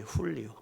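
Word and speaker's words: Julio: 줄리에요 줄리어 우리가 말하는 스패니쉬로 말하면 면 리예 훌리오 예 줄리라는 것은 예 h 발음으로 나오잖아요 리로 그래서 주리는 밤낮으로 고생하는 아버지가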